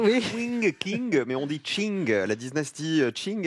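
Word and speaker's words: Qing: le gd je sais pas des chinook ça s'écrit sonnait bien ça c'est quand les kings mais on dit shin gala 19 stiching l araignée de 744 à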